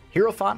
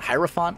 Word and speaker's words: hierophant: from the hierophant card hero font hierophant i've never pronounced that right people like you pronounce it wrong i'm like yeah but